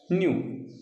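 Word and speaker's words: knew: के एन यू डब्ल्यू न्यू, इथं के सायलेंट असतो, या ठिकाणी के सायलेंट असतो म्हणून याचा उच्चार न्यू आणि न्यू अर्थ पहा वेगळे आहे.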